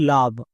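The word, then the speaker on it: love: এর উচ্চারণ হয় লাভ।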